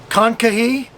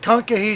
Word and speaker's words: Kankakee: We are just south of Chicago, and we are in a KOA, and I think it's pronounced Kankakee, but it's Kankakee South KOA.